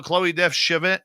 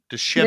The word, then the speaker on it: Chevigny: Khloe Devvinier. Oh, I knew I'd butcher it tonight. Khloe Chevigny. Why couldn't I say that? It got stuck. You know, after all these years of pronouncing French names in covering hockey, you think I could get Chevigny just perfectly. Chevigny. There you go.